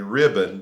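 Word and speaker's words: riband: of the borders a ribboned of blue now it's spelled r-i-b-b-a-n-d but it's the same way or the same word that we use for a ribbon like a like a blue ribbon a red ribbon you know there used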